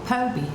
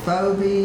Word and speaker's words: Phoebe: e, and called me Phoebie. And I just tell people the h is silent. Yeah. Because the p h does not sound an f. Yeah, because you get Foe-bee, you get Fee-bee.